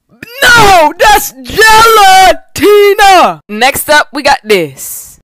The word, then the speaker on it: gelatina: We not finna do is just speed past the fact that she pronounced the G-E-L like hell and the T like the letter D. Gelatina? No, that's gelatina.